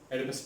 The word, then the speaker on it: Oedipus: That's why it's pronounced as Oedipus Complex.